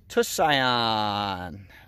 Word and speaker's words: Tusayan: it's right on trail the next one is tusayan um and that's how you pronounce it FYI so to say on Mile